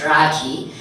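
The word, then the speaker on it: Rakhi: But no, it's spelled R-A-K-H-I, it's Rocky.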